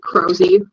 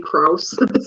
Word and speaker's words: Krause: I can I can uh crowy but oftentimes pronounced kuss so we just go with the